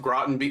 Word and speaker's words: Groton: Well, Groton. I only even know it's pronounced Groton thanks to John Anik.